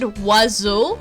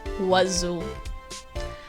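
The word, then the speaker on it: oiseau: i want you to guess how this word is pronounced if you said wazzo you're right if you said anything else you're wrong that word is pronounced wazoo crunch is dumb i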